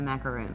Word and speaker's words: macaroon: Okay, because there's a difference in a macaron and a macaroon. Macaroon is a coconut cookie.